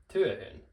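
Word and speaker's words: työhön: We're going to add h, and then that last vowel, and then n. So, tuehun, tue, tuehun.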